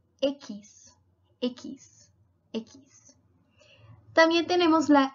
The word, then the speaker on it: equis: bueno tenemos la equis en portugués sería sis pero en español se llama ekis ekis ekis también tenemos